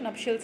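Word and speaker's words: nuptials: है ये आपका, सॉरी, इसको क्या प्रोनाउंस करेंगे, नपशियल्स, कुछ ऐसे ही प्रोनाउंस करेंगे, मैं आपको बता देती हूँ एक बार देख के, ठीक है, ठीक है। हाँ, तो मैं बिल्कुल करेक्ट पढ़ रही थी, इसको नपशियल्स ही पढ़ेंगे, मैं फर्स्ट टाइम पढ़ रही हूँ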